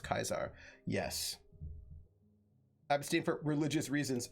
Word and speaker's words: Caesar: I think Julius Caesar's time, the Romans, like the Greek, had no soft C, so Caesar is pronounced Kaisar.